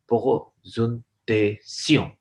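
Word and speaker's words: présentation: प्रेजेंटेशन एक English का word है, स्पेलिंग सेम है, फ्रेंच में भी यही वर्ड है, लेकिन इसको मैं बोल रहा कैसे हूं? पोजुनतेसियों।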